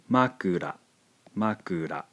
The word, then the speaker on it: makura: let's take a look consider this word here pronounced Ma Ura makura let's see how the pronunciation changes when we